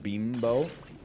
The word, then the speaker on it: Bimbo: up bro bimbo International I swear to you it's pronounced Beano thank you in correcting